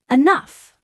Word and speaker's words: enough: Or enough. We say enough.